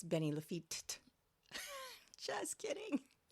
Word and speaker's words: Lafitte: He was Is it feat or just Lefi? Since it's French. Um, so because it ends with a T, you do or with an E, you pronounce the T's.